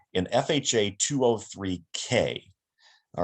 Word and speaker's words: K: bravo this is a k and i always say k like construction which of course is spelled with the c but that's how you remember it 203k is a